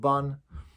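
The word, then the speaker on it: ב״ן: But the last one we called Ben, or some people call it Ban. In the yeshivas where I learned, we called it Ben.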